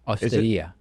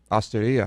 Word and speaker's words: Osteria: The emphasis is on the I. Osteria. Osteria Francescana.